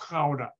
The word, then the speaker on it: Gouda: No, it's pronounced Gouda.